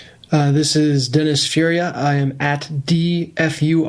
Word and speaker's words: Furia: d Furia on Twitter really emphasize the F you dfu I had I spelled my name over the phone because I realized I was I was saying that to people how do you say it then f as in Frank u r i a nice um f